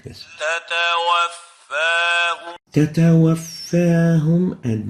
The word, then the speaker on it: تتوفاهم: The right way of pronouncing it is like this. تتوفاهم تتوفاهم and not تتوفاهم.